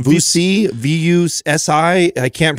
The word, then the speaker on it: Vusi: Vusi, V-U-S-I. I can't pronounce his last name.